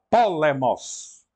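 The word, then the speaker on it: πόλεμος: Então, temos a primeira com o acento na antepenúltima sílaba, polemos.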